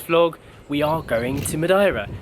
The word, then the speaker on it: Madeira: Now, I'm not sure exactly how you're supposed to pronounce this, but that's how my friend Margarita pronounces it, so I'm gonna go with that. I've always thought it was Madeira.